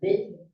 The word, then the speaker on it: been: lang, like, wait, I've been there. Have you been there before? Been. It's double E, but you don't pronounce it as I've been there. You just say I've been there.